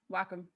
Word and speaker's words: Wacom: Everyone pronounces it Wacom, but it's Japanese, right? So it is different. But everyone in North America pronounces it wrong, and they've kind of just given up to that. So, gotcha. Thank you for clarification. Yeah. Basically, neither answer is wrong until you go to Japan.